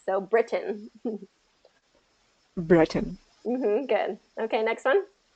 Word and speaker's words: Britain: And so when we're saying Britain, we have to say it like the British, right? we can't kind of change that. So I think that's held strong to keep the T, because British English, they keep the T.